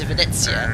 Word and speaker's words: Venezia: How do you pronounce it? It's Venezia.